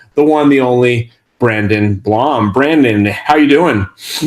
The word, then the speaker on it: Blom: go Northern California the one the only Brandon Blom Brandon how're you doing I'm doing great